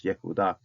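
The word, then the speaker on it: יהודה: And it should be, if you're going to pronounce the whole thing out, it's Yehuda.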